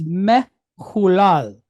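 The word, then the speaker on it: מהולל: So this goes from being hu to hul, right? Then we pick up the second L sound, open up the syllable, and we're going to pick up the kamat and then the closing lamed. La, al, lal. So the word is mehulal.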